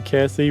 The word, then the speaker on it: Cassie: is indeed the lizard Cassie so thank you and others for for figuring that out for us very nice thank you Cassie rhymes with Lassie um Cassie said that